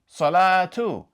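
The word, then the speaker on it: صلاة: But, if you do pronounce its haraka, then it will be pronounced like the letter T, or the Arabic ta.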